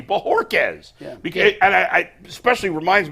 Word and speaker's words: Bojorquez: Am I still pronouncing his name wrong? Bojorquez. That's a terrible job out of me. Bojorquez.